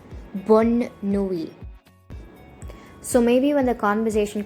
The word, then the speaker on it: bonne nuit: But in this case, we have an additional N and an E, and hence it is pronounced as bonne nuit.